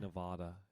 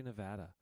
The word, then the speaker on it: Nevada: You don't have to say Nevada. You have to say Nevada. That's how it's pronounced.